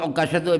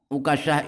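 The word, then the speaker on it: عكاشة: Kata Imam Jauhari, Imam Sa'lab ahli bahasa Arab, Uqasyah itu dibaca tasydid kafnya dan kadang-kadang dibaca takhfif tanpa tasydid. Uqasyah.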